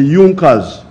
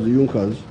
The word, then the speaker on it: Junker: it had the big farmers known as the junkers it's written in the junkers but it's pronounced as yunkas in the german kingdom of prussia one of